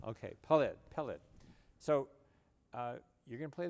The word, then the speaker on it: Peled: Peled. Put the wrong emphasis on the syllable. Okay, Peled.